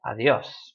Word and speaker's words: adiós: Adiós ends in an S. It should be stressed on the A, but it's not, so we say adiós.